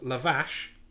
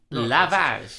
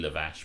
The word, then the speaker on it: lavash: oh there you go it's probably not lavazz it's sh rather than che but nice but still